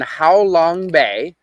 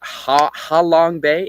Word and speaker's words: Halong Bay: That is in How Long Bay. Uh not how long like spelled like I'm saying. It's Halong Bay. H A Halong Bay, which is uh east of uh Hanoi, the capital of Vietnam.